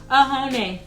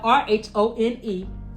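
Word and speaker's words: Rhône: Oh, just to let you know, this color here is called Ahone. And it's spelled R-H-O-N-E. I thought it was Rhone, but no, it's Ahone in French.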